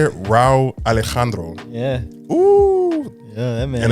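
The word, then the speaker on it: Rauw Alejandro: Chris Brown, Empire, Jason Derulo, Tiana Taylor, Neo, Raul Alejandro. Dang, I just butchered that whole name. My bad, bro. How you say it? Raul Alejandro.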